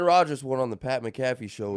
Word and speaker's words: McAfee: McCaffy actually is it's another guy. It's a Yeah, the Christian. No, that's Christian McAffrey, but Macaffy is the virus protection for your computers spelled the same way.